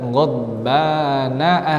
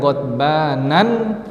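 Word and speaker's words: غضبان: Seperti di ayat ghadbana asifa. Ghadbana asifa. Tidak kita baca dengan ghadbanan asifa, tapi ghadbana asifa.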